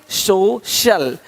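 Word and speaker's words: social: सकता है अब देखो यदि सी के आगे आई ए हो तो सी का उच्चारण श होता है क्या होता है श होता है क्या लिखा हमने सोशल सोशल सोशल तो यहां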